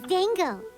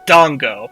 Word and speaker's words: Dango: aaka P wants those Dango sure I always pronounced it Dongo is it Dango uhhuh those look good too